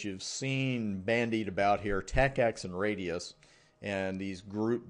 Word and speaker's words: TACACS+: read and say this when you read it in a study guide you're almost always going to see it as tacx plus but when you pronounce it you're just going to say tacacs because we all got